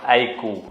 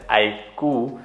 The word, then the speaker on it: iQOO: launched a brand-new brand it's called iku you pronounce it as I COO though it's written as IQ oh oh and it stands for